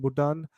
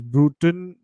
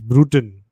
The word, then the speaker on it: Brewton: not pronouncing it correctly it's brewton yeah it can't be bhutan bhutan is not a british name it is brewton brutan sir bruton captain